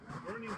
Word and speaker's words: Boerne: Burning's how you pronounce it. They say it rhymes with journey.